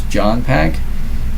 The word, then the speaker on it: JONPAQ: So I resurrected the name JOHNPAQ, that's John Pack, but I spell it out differently, so it's JONPAQ.